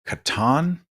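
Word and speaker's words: Catan: I tried to learn Natalie bought something called Katon I've got it C is it c a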